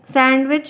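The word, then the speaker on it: sandwich: होते हैं आगे पढ़िए सैंडविच में क्या सैंडविच में क्या साइलेंट है डी साइलेंट होता है ठीक है डी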